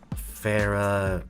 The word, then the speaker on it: Farah: And how is that pronounced? Like how I just said it? Farah Reyes. Farah, okay, Farah.